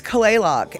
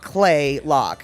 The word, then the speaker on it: Kalaloch: because it's not um it's not how you think you say it like clay lock you know c-l-a-y l-o-c-k clay lock that's not how you spell it you spell it k-a-l